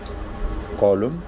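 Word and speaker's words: column: Word M एन यानी किसी word के आखिर में एम एन आ जाए तो उसमें एन साइलेंट होता है। जैसा एग्जांपल में हम देख रहे हैं ऑटोमन कॉलम और डैम इन सब में जो है एंड पे एन जो है वो साइलेंट है।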